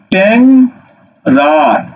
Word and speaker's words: ট্যাংরা: এবার তুমি উচ্চারণ করবে কি ট্যাং রা, ট্যাং রা।